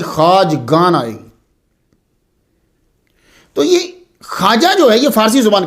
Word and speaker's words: خواجہ: آجامیر کی خواجہ، اس کا تلفظ جو ہے وہ خواجہ ہے. لکھا جاتا ہے خا، واو، الف اور جیم آگے پھر وہ ہا. تو خواجہ نہیں پڑھیں گے، اسے خواجہ پڑھیں گے.